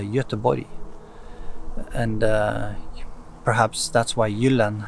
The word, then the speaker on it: Göteborg: Like in Swedish today, you don't say Gothenburg, it's a Göteborg.